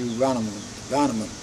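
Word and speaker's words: Warnemünde: And amongst other things, they took me down to Varnamund. That's spelled with a W, Varnamund.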